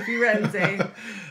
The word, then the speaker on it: Firenze: Firenze, honey, Firenze.